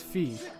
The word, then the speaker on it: Fi: Her name is pronounced Fee. Yeah, I think it should be Fi.